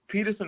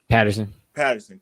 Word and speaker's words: Patterson: Is it Peterson or Patterson? Patterson.